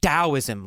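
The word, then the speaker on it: Taoism: So, it's spelled with a T but pronounced as a D.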